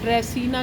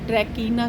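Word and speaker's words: Dracaena: अ दोस्तों आज हम एक ऑर्नामेंटल प्लांट इसको आप ड्रेसीना कह लीजिए, ड्रैकीना कह लीजिए। देखिए भाषा है तो कुछ थोड़ा सा शब्दों का जो प्रोनाउंसिएशन है थोड़ा ऊपर नीचे हो जाता है। तो उसको समझिए।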